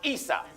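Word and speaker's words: عيسى: Esau in Arabic is pronounced Isa.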